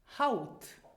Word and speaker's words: Haut: So it is pronounced ow, as in the English word now. Examples, Beispiele. Haut.